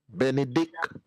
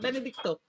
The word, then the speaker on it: Benedict: Benedict. If you call that him, Patra, how would it sound? It's not Benedicto. Isn't he Benedicto? No, Nito is not on it.